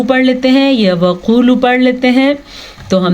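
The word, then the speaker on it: وَقُولُوا: لیتے ہیں، جیسے کہ وقولو پڑھ لیتے ہیں یا وقولو پڑھ لیتے ہیں۔ تو ہم نے کیا پڑھنا ہے؟ وقولو، دونوں واو مدہ ادا کرنے ہیں۔ حطوۃ نغفر لکم، توا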